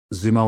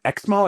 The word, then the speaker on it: Xumo: Zumo was a 40 person startup in Irvine and they're like, "You going to XO?" I go, "First of all, it's pronounced Zumo and one day you will you will know our name.